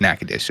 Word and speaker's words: Natchitoches: We went into Natchitoches, and I'm like, how do you pronounce this? At the hotel lady, she's like, it's Natchitoches.